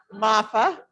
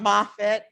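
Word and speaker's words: Moffa: amendments yes eric um it is mafa not moffitt not yes so m-o-f-f-a so if we could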